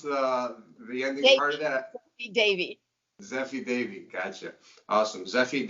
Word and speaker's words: Zeffi Devi: Can you pronounce the ending part of that? Zeffi Devi.